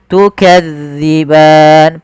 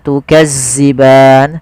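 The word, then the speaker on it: تكذبان: panjangnya dua harakat tukadziban pada lafal Zal hati-hati ya teman-teman jangan sampai dibaca dengan Zai jangan tukazziban sering terjadi yaitu mengganti huruf dalal dengan Zai tukazziban tukazziban ini sering terjadi kesalahannya harusnya tukzi tipis dalalnya tidak ada desis tukan kemudianfal ban ada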